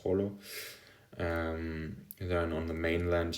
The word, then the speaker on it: Jolo: So the capital of uh Sulu is Holo or Jolo, but I think it's pronounced Holo.